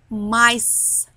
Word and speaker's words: mice: Number five, mice. سمعتوا letter s? مش letter s. Letter c. Sound s.